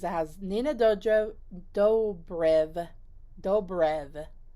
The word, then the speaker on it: Dobrev: has nina dojo dobrev dobrev not dodriv that's how i've been saying it this whole time but it has a b on here unless it's spelled wrong